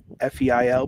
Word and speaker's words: Feil: So my full name is Feil, F-E-I-L, pronounced Feil.